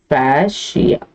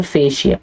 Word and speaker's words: fascia: a connective called as fascia what is a connective called fasia or fascia okay however you want to pronounce it then there are coverings